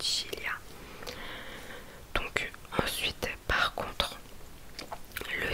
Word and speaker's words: Sicilia: Il y a aussi l'île Sicile, en italien ça se dit Sicilia, donc c'est un C et un I aussi, c'est Sicilia.